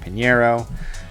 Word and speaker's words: Pineiro: because it's Eddie Money Eddie dinero rhymes with Panero so what I did